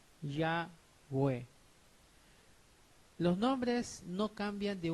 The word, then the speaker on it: Yahweh: Lo cual sabemos que estas 4 letras son Yod, E, Waw, E, y esas 4 letras pronuncian Yahweh.